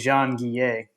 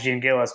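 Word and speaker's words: Jean-Gilles: pronunciation guide in here Max Jean gay uh which we I used to say Max Jean gilas back in the day but apparently that was incorrect uh do do do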